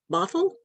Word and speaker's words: Bothell: Is that pronounced Bothell? Yes. Bothell.